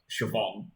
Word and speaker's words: Siobhan: you take Irish names if you don't know the pronunciation of like Siobhan then yeah good luck